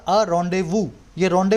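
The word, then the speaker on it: rendezvous: लो update या और रोंदेवू यह रोड व देखकर वह इसको क्या लिखा है मैंने religious rituals for inverter Indies लिखा जाता है लेकिन बोला जाता है रोंदेवू तो मैंने इसको रिलीजियस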